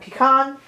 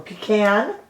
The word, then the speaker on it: pecan: different shades buttercup and pecan or pecan depending on how and you're part of the world and how you say it what do you